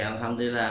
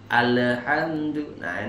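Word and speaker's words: الحمد لله: alhamdulillah itu salah ya tidak boleh kita membaca lam yang sukun dengan qolqolah ya daripantulkan ya alhamdulillah ini kadang kalau lagi ngantuk kadang bacanya itu ya alhamdulillah Nah ini salah ya jangan diteruskan Alhamdulillah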